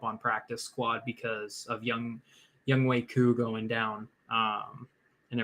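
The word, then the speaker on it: Younghoe: And um yeah, Young Way. Yeah, that's crazy. You know, everybody was talking about Young Ho. Oh, for sure. That's how I pronounced it when he first came out.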